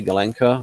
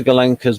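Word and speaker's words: Gulenko: mean as i say golenka is that there there's no is it it's not a long o because a long o actually is a diphthong russian one but ukrainian much slightly different victor galanka's model g the situation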